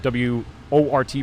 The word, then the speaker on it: Wort: We have a link directly to the our page, and of course use promo code TheWort, W-O-R-T, pronounced Wort, spelled Wort, for your 10% off your order of Brewbag.